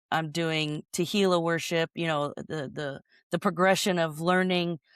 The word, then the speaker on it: Tehillah: It's Tehillah on the very last page of my book for 440. Nice. Yes. Specific. Yes. I love it. Ray Hughes says rhymes with tequila.